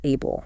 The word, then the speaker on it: Abell: And yeah, pronunciation wise, it's Abel. So, Abel 39.